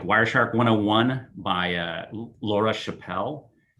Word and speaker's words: Chappell: 101 by uh laura chappelle l l that was c-h-a-p-p-e-l-l in 2017 which is she pronounces her name yeah she pronounced her name chapel and she and i